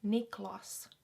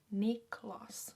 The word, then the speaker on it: Niklas: sound again super finnish niklas niklas so that's how you'd pronounce it um in finland niklas hogman nicolas nick